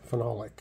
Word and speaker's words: phenolic: It's phenol with an O, lick, phenolic.